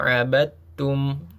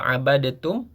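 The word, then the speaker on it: عَبَدْتُمْ: Ma abadum. Walaupun di situ tertulis huruf dal yang harusnya awalnya kita membaca abadtum tapi huruf dal tersebut masuk ke huruf ta menjadi abadtum.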